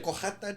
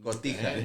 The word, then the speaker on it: Cotija: cojata cheese on it. Cotija.